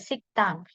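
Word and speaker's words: 식당: berarti dia jadinya sanget Jadi dibacanya sikang bukan Dang enggak pakai D jelasnya gitu ya Jadi pakai T siktang ya siktang kemudian contoh yang ini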